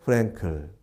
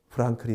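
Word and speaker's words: Frankl: 이번에는 빅터 프랭클, 독일어, 엄격한 독일어 발음으로는 빅터 프랑클이 맞을 것 같아요.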